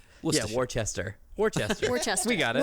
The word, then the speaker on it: Worcester: Yeah, like, I've heard 20 different pronunciations, not one of them right. Worcestershire. Worcester. Yeah, Worcester.